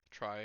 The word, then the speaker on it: trie: prefix tree a try pronounced as try as i just said it a prefix tree is